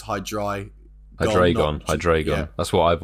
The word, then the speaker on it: Hydreigon: Is it Hydreigon?